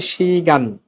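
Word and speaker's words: 시간: চলো, শুরুর শব্দটা হচ্ছে শি গান। এখানে কিন্তু ওই শিয়তের পরে ই আছে, সুতরাং উচ্চারণটা তালব্যস্বয়ের মতো হবে শি গান।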